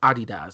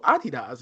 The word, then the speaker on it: adidas: up about adidas or adidas because they're german so i i was in germany and they were like oh adidas i was like oh it was not pronounced adidas okay i've never been